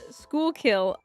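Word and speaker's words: Schuylkill: Litis Blue Balls, PA, a place pronounced Schoolkill intercourse.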